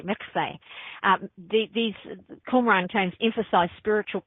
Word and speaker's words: mikveh: I try to say it correctly, mikveh.